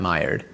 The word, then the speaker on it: Maillard: Okay, the L's are pronounced like that. Maillard.